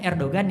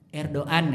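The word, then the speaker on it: Erdoğan: Sama Erdogan itu, kalau kita ngomong kan Erdogan ya, itu salah itu logatnya. Ya. Erdogan ya. Orang mereka bilang Erdogan, tapi kita baca karena G kan tulisannya Erdogan.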